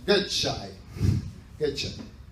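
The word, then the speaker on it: Gøtzsche: este señor que créanme que se pronuncia gai getch ese coche es un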